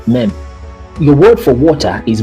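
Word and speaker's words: מם: And it's pronounced mem.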